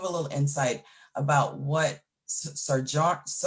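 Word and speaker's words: Sjögren: little insight about what Sojourn, I think it's European name. Sjogren, there you go. I'm trying to pronounce it like it's spelled and that doesn't work.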